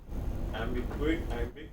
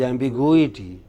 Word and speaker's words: ambiguity: ambiguity, No, it is ambiguity. Ambiguity.